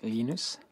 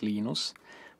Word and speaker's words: Linus: When I speak Swedish, it's Linus. When I speak Finnish, it's Linus. When I speak English, it's Linus. And I really don't care how people pronounce my name.